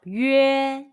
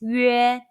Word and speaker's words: 约: it, the pronunciation is 约. It's a combination of the Mandarin Chinese yu and e sounds. Say 约.